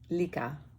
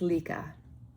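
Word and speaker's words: Lykke: Lika. It's Lika. Sure. Because the E at the end is an A, and the Y is an E. Lika. I'm almost sure that that's how you say it.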